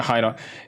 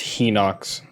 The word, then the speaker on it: Hinox: Or, I keep calling it Hinox. It's actually pronounced Hinox. That's what the Japanese pronounce it as.